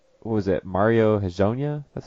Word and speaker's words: Hezonja: But like what was it, Mario Hezonja?